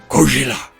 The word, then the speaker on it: Gojira: I love how they pronounce it. We're like, I just picture the scared Japanese fisherman going, Gojira.